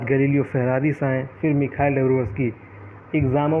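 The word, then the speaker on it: Доброво́льский: डेब्रोवोल्स्की, एल चूँकि silent रहता है, वोस्की है वैसे, मिखाइल डेब्रोवोस्की।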